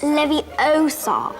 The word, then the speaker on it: Leviosa: It's Leviosa.